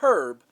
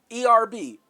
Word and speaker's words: herb: side peaches and herb not herb herb the h is silent erb herb matter of fact